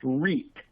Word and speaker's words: REIT: And one of the most common ways to do that is through what's called a real estate investment trust, and that's pronounced REIT.